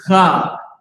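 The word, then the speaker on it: חג: devil, but man, listen, he knows how it's supposed to be pronounced. Now, will he pronounce it like that on his own? No, the hell he won't. He's a damn devil. Right. But the word feast is Chag.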